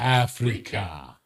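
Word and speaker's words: AfreecaTV: I think it's pronounced Africa. because it's AFREECA. It's like, Africa. it's like paprika.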